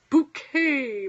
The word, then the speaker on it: Bucket: exactly it that's exciting I said bouquet but it's spelled bucket now my mother's not a